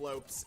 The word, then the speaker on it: Lopes: The Brazilian last name Lopes is fairly common, and in English it is pronounced exactly as it's spelled, if anybody was wondering.